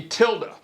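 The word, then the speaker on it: tilde: go to the library is it n Tilda or Tilda Tilda or tild it's t i lde e t t i l d e is how you spell it all right t i l d e I've heard some people say tild Matilda not Matilda good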